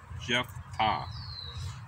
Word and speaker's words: Jephthah: And the elders of Gilead said unto Jephthah, that's how it's pronounced, there's H-T-H, Jephthah, the Lord be witness between us.